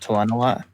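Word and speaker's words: Talenelat: Um, in the uh prequel to Kill it is Zth sees it as Tenolot, which is how I am most used to hearing it pronounced. Tenolot.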